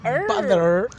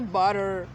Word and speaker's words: butter: Butter. No, you don't say butter. What? Say butter. Butter. You got to butter.